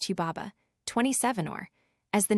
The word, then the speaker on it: Hubaba: of the cedar forest, Hanbabet, probably pronounced Huba, 27, as the name appears in the old Babylonian version, Hiwa.